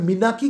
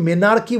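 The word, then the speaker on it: menarche: দেখো এখানেও কিন্তু আমরা মিনাকি বলছি, আমরা কিন্তু মেনার্কি বলছি না, এম ই এন এ আর সি এইচ ই, এই আরটা কিন্তু উচ্চারণ হবে না, সাইলেন্ট থাকবে, আমরা কি বলবো?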